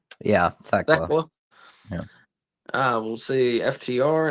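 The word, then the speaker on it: Thekla: Yeah, Theckla.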